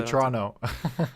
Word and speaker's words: Toronto: too far from toronto we say it different in canada we say toronto we don't pronounce any teasers my mother said she